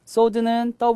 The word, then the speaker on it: sword: 쓰이는 장검을 얘기합니다 자 소드는 가 발음이 되지 않아요 그래서라고 읽지 않고 그냥 드라고 읽는다는 거 조심해야겠습니다 자이 문장은 app